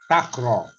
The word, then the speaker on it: takraw: Okay, so what we pronounce this game, takraw. Takraw. This is pronounced as a takraw. So you can read after me. Takraw. Takraw is 2-syllable word. Takraw. Takraw. 2-syllable word.